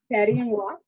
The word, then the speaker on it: Paris et moi: Pronounce this. Paris et moi. Paris et moi.